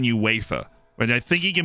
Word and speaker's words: UEFA: so he's in uefa actually the right way to say this is he is in uefa but i think he